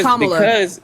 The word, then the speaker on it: Kamala: Anyway, so it's Kamala. because I pronounced a woman's name incorrectly, and I sat